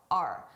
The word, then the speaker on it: our: Notice our. I did not pronounce this as our. I said R. A very reduced sound, R.